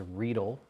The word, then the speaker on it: Riedel: What's the correct pronunciation? Riedel.